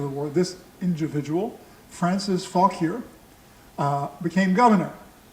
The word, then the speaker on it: Fauquier: war, this individual, Francis Fauquier, became governor. Many people wonder why it isn't Fauquier, pronounced like the French. It's because he's English.